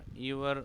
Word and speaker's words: ewer: यहाँ पर जो यूवर है वो EWER, यूवर इसका प्रोनाउंसिएशन है, और इसका जो मतलब होता है वो होता है पोट, जिसमें पानी वगैरह डालते हैं।